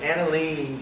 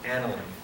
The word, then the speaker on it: aniline: You might call it aniline, but it's pronounced aniline.